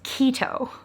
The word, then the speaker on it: Quito: So I went online to look up how do you pronounce Quito. And when it was spelled out phonetically in front of me, I went, no way. It is keto.